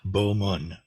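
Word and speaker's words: 普門: The 25th chapter of the Lotus Sutra is the universal gateway chapter of the of the Lotus Sutra, which in Sino-Korean is pronounced Bo Mun.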